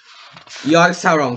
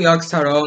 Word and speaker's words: Yogg-Saron: Ele era formado pelos 4 deuses antigos, Setun, Nosalt, Yashra, Iriash e Yogg-Saron também. Sim, eu pronunciei corretamente, eu sou bom na pronúncia. Setun, Yogg-Saron, Nosalt, Yashra, etc.